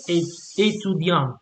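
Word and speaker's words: étudiante: So for example, here, since we talk about a feminine person, we have to add this little e, yeah? So étudiant, and you pronounce the T, yeah?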